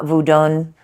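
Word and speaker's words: Vodou: Um, the pronunciation is different. Mine isn't the best. Uh, voodun.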